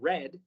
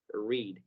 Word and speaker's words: read: Así que en este caso vamos a pronunciar como read, pero acá estamos hablando en futuro y el I'll nos lo dice, y en el futuro el verbo se dice en su forma base, es decir, en presente acá sí se pronuncia read.